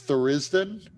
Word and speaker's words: Tharizdun: It's Tharizdun, but yeah, Tharizdun, whatever you said was close.